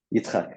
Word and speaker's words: Yitzchak: I'm afraid to pronounce the second name. Is it Yitzchak? Yitzchak, yeah.